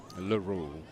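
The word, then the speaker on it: Laroux: Um Dalton Laroo or Laro, however they want to pronounce that. L A R O U X Laru.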